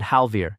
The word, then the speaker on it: Halvir: breath and she said Halvir at the top of a list of 31 in front of the entire year. She put the stress on the second half. It goes on the first.